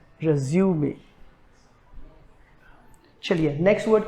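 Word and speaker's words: résumé: हम ऐसे बहुत से इसको resume बोलते हैं, जो कि गलत है. 70% इंडियंस इसको गलत प्रोनाउंस करते हैं. करेक्ट प्रोनाउंसिएशन, इसका जो सही प्रोनाउंसिएशन है वो है resume.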